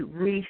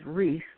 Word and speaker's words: Reis: And this has come to be known as the Piri Reis map.